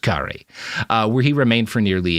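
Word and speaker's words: K'gari: to Fraser's Island, called Gari by the natives, right? He spells it Karina. I don't understand why, but it's pronounced Gari, where he remained for nearly a year.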